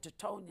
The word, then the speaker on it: Teutonia: I didn't think things were pronounced like they said Teutonia instead of Titonia.